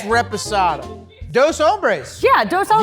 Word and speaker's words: reposado: You've been saying resposado and it's reposado. It is reposado. And you know what, Reposado. Leslie? You can tell me when I'm wrong. It's okay. It's reposado.